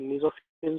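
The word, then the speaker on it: mesophyll: मेसोफिल cells, है ना, इसको प्रोनाउंस करेंगे हम लोग मेसोफिल सेल, मेसोफिल सेल्स, है ना।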